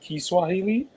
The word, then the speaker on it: Kiswahili: subject turns verb so it's not called Swahili it's called kiswahili yes why do people keep saying Swahili they never pronounce the k the key um is